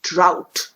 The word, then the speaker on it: drought: is the word bow there's also another word called drought now here drought has a t at the end so technically it does not rhyme with how but this word is here because the sound of o-u-g-h in this word rhymes with how so drought what is